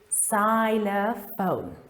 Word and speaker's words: xylophone: And then in the word xylophone, it is pronounced Z again, just as we did with Xavier. So now we say xylophone.